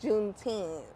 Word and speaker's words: Juneteenth: So Juneteenth is when? June 19, 1-9, Juneteenth. Not 10th, 1-9.